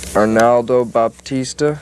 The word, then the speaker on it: Arnaldo Baptista: Arnaldo Baptista, is that how you pronounce his name?